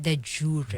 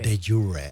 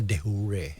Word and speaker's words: de jure: And you pronounce it de jure. De jure. Ako pronunciation ko yung iba de hure.